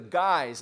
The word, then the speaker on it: guise: facto legalized under the guise of medical marijuana you knew it rhymes with guys lies because that's exactly